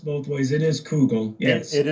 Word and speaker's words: Kugel: It is Kougall, not Kel. Uh, it's been pronounced both ways. It is Kougall.